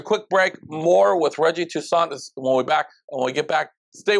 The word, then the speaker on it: Toussaint: Toussaint. He said the T is silent. It's like a French thing.